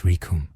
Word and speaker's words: Rikum: "It's Rikum." And it rhymes with doom and gloom.